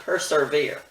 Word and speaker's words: persevere: when things are severe persevere not persevere i looked and couldn't find the word persevere so persevere it is let's all persevere in